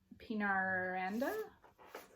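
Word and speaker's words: Peñaranda: This is Chloe C. Pinaranda. Yes, that's how you pronounce her last name.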